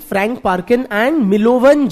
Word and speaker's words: Milovan: Perkin, Frank Perkin, scholars like Frank Parkin and Milovan Jilas, MILOVAN, N for Nagaland, MILOVAN, Jilas, DJ, हाँ D silent था थोड़ा, Milovan Jilas, MILOVAN, DJILAS, क्या हो गया ना?